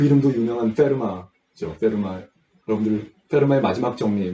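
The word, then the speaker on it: Fermat: 이 페르마는 프렌치예요. 그래서 이 맨 마지막에 T가 있는데 발음을 하지 않습니다. 그래서 페르맛 이렇게 발음하는 사람은 있으면 안 됩니다.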